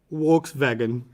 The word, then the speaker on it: Volkswagen: this car volkswagen no they pronounce the v as a w and the w as a wii so they say volkswagen and this would be